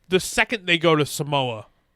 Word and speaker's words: Samoa: Um and the second they go to Samoa. H which is later in the movie. He's like we're going to the island of Samoa. He's Yeah. We're going home to to Samoa.